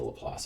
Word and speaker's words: Laplace: the best of me it's named after a Frenchman so you shouldn't say that it's named after Pierre